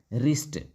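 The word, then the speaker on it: wrist: next आगे बढ़ते हैं डब्लू आर आई एस टी इसको पढ़ेंगे रिस्ट इसमें डब्लू जो है साइलेंट होता है इसलिए साइलेंट जाएगा तो क्या पढ़ेंगे इसको रिस्ट पढ़ेंगे है ना उसके बाद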